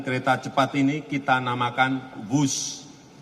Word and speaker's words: Whoosh: Dan kereta cepat ini kita namakan WUSH. W-H-O-O-S-H. Dibaca WUSH. Ini diinspirasi dari suara yang melesat dari kereta berkecepatan tinggi ini. Dan singkatan dari waktu hemat, operasi optimal, sistem hebat. Sekali lagi, W-H-O-O-S-H, tapi bacanya WUSH.